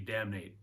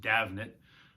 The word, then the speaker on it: Davnet: think it should be damnate but um it's common mispronunciation she jokes about it all the time i guess it's an irish name it's pronounced davnit um davnet is a